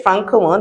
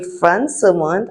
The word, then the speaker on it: Françomonde: Okay, so we don't say Francomonde, we say Françomonde. As you can see, that symbol there means you have to pronounce it as a S. Françomonde.